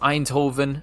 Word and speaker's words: Eindhoven: And over in the Netherlands with our Dutch brother and sisters, I think this place is pronounced Eindhoven.